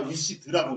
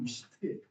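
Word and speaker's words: wished: 여러분들 다 wish드라고 있지만 사실 올바른 발음은 wish입니다. 하지만 선생님들도 다 wish드라고 읽으시죠, 그렇죠? 올바른 발음은 wish트예요.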